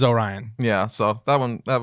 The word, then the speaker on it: Orion: a different character so maybe you want to pronounce it a little different or whatever but it is Orion yeah so that one